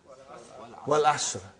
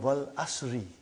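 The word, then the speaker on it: وَالْعَصْرِ: What is the first ayah? Wal Asr. Have you ever noted down what is written there? It's called Wal Asri. It's majroor.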